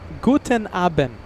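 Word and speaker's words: Guten Abend: Guten Aben.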